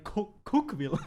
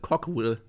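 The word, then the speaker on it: Cookeville: Ja, und dann bei Cookville. Und da sehe ich mich drin. Please give me cook. Please give me cook. I like cook. Das heißt, es wird anders ausgesprochen, das heißt Cockville.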